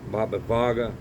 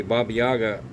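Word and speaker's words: Baba Vanga: there's a lady named Baba Yaga Vaga Baba Vaga they say it like Yaga but it's spelled with a V but anyway Baba Yaga made a prediction for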